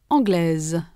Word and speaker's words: anglaise: In the masculine, the final s is not pronounced. In the feminine, s represents the sounds z.